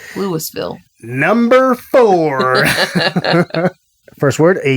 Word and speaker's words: Louisville: But it's pronounced Lewisville.